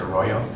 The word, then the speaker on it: Arroyo: name I don't you know but I just pronounce it Arroyo he said oh are you from those Irish